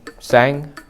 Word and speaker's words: Sang: free food every Sunday my name is pronounced sang I was named after a